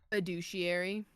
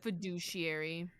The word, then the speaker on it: fiduciary: a r y yeah what in there would say the word douche it's like the fiduciary why does it why